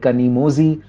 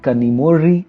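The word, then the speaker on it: Kanimozhi: The technical term for this sound is retroflex approximant, and when transliterating in English, it is represented as ZH. So you must have come across these words like kanimozi or kozhikode, which are of course the wrong pronunciations of these words.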